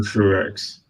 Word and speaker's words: Truex: Martin Truex. There you go. I didn't want to say it wrong, so it's like Granit Xhaka, the True X. Junior.